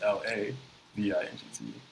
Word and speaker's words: LaVingt: So Levant, instead of LE with the accent VINGT, it's LA VINGT.